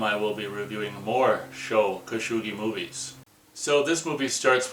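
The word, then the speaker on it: Sho Kosugi: all three films of show khashoggi i think i've been saying his name wrong i might be saying show kashugi from now on even though i don't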